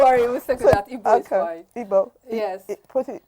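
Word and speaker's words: Igbo: The way it's pronounced is the I. This is the E. Then there's a GB. This is the B. E. GB O instead of but what you're pronouncing is IBO instead of IGB O.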